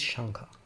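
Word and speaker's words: Śaṅkha: the first one is shangha and means shell in reference to the shell-shaped knot under irish's headrests the actual phonetic pronunciation is shankar and could be spelled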